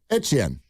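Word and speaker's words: Etienne: Well, he said his name is pronounced. Yeah. Etchen.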